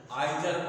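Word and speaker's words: either: Pronunciation आपका ठीक नहीं, ये दो तरह से बोला जाता है। अमेरिका में इसको बोला जाता है ईदर आर नीदर नार। तो ये दो टाइप ऑफ प्रोनाउंसिएशन हुए, और ये ब्रिटिश है, आइदर आर नाइदर नार, ये ब्रिटिश है, और अमेरिका में उसको नीदर नॉर और ईदर आर के नाम से जानते हैं।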